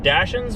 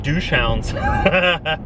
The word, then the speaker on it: Dachshund: I used to think that Dachshunds were pronounced douche hounds.